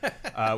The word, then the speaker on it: Jordan: Spelled Jordan, but pronounced Jordan, which is actually my middle name for that reason.